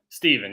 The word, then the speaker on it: Stephen: So is it Stephen or Stephen? Steven, yeah. Steven, okay. I thought I was saying it right, but you like the Steph, like Steph Curry.